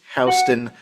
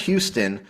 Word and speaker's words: Houston: My guest today is Hston. Um, and that's that's pronounced with the the correct the correct way where where it's Hston, not Houston.